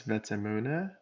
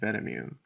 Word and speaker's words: Vetemune: it vune or vune I pronounce my name as vuna but looking at the community they find it much easier to call me vamun but I respond to